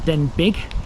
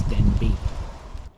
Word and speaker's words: Denbigh: It's a Welsh name. It's not Denbigh, it's Denbigh.